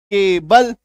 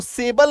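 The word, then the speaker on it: cable: तो यहां पर सी का उच्चारण क्या होगा? क होगा। केबल। इसको सेबल नहीं बोलेंगे। केबल बोलेंगे।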